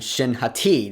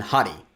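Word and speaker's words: Shin Hati: the baddies Morgan knows Beth Baylen skull and shinhati that's how you say her name which makes a lot more sense than hottie yeah and so the baddies come out of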